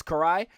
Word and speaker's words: Karai: Of course, this was your comic historians uh pronunciation of the Japanese names just off. So, it is Karai.